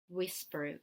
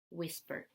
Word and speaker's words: whisper: Whisper. Вторая буковка не читается. Whisper.